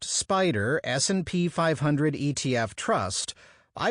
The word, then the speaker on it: SPDR: If this afternoon, for example, I were to buy 100 shares of the ETF called the SPDR, pronounced Spider S&P 500 ETF Trust, I would know that exactly 6.37% of my money was invested in Apple Inc.